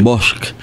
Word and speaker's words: Bosch: Oh Monte Oh eh igual que el apellido Bosch es un apellido Catalán Catalán se dice B bosque en catalán es bosque bosk y y significa bosque